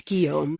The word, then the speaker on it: Guillaume: I don't know how to pronounce his name. Guillaume. G-U-I-L. Yeah. It's Guillaume.